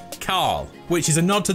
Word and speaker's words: Carl: of its real name carl which is a nod to the walking dead and how rick grimes pronounces carl it's kind of like coral a carl carl the original long-standing elimination